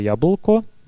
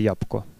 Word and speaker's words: jablko: Например, слово «jablko» (яблоко) может произноситься как «jabko», а «mlha » (туман) как «mha».